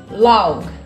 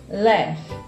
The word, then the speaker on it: laugh: E muita gente pronuncia essa palavra como LOG, LOG. E na verdade não é assim que pronuncia, tá? A pronúncia correta para essa palavra é laugh, laugh, laugh.